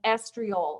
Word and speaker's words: estriol: Get yourself a prescription, and if you've got a pen handy, for 0.5% estriol, and I'm going to spell it for you, E-S-T-R-I-O-L.